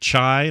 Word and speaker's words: Chai: You're this character named Chai, like the T.